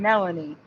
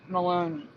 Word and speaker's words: Melanie: isn't in April fools we've been pronouncing it wrong for years her name is Karen Melanie not Maloney so thank you again